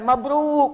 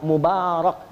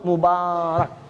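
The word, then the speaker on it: مبارك: punya anak dan sebagainya diucapkan mabruk mabruk Masya Allah ya oke mabruk mabruk nah itu kurang tepat yang benar Mubarok Bukan mabruk bukanlah blog Mubarak kalau mabruk itu artinya unta sedang duduk pun tak sedang duduk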